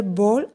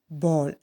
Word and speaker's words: bowl: He told the rice farmer to cut down the pine tree and make a bowl and a handmill from its wood. B-O-W-L. Correct pronunciation, ball, not bowl.